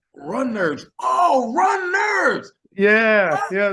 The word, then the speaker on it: Runnerds: today it was like yes it's pronounced Runners yeah you know seen